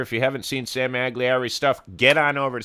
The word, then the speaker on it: Magliari: If you haven't seen Sam Magliari's stuff, get on over to Sam Magliari's YouTube channel.